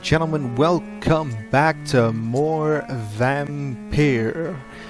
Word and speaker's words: Vampyr: back to more vampire vampire as I have finally figured out through my sources that that is the correct pronunciation of the game's name not vampire as I have done for eight freaking episodes anyhow we're gonna jump